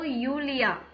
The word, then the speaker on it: Julia: அதே மாதிரி கீழே ஹலோ நீனா, ஹலோ யூலியா. Julia. ஆமா ஜே நம்ம அங்க என்ன ப்ரொனவுன்ஸ் பண்ணியிருக்கோம்? யாட். யாட். யாட்டுக்கு யா அப்படின்னு வை தானே வருது.